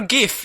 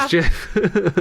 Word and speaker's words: Jif: A full bar of Jif peanut butter, or GIF if you want to say it wrong. I actually think it is Jif.